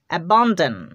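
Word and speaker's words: abandon: a sound তারপর দেখো ডি ও এন এর উচ্চারণ করতে হবে ডান ডান ডন না কিন্তু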